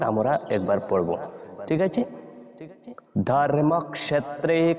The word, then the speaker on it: ধর্মক্ষেত্রে: বর্ণটা এজন্য বলবো ক্ষ তারপর এজন্য আমরা বলেছি ধর্মক্ষেত্রে এরপর কুরুক্ষেত্রে তারপর দন্তীয় স যেটা এটাকে আমরা সই এইভাবে উচ্চারণ করব এস ও স যেভাবে হয় এইভাবে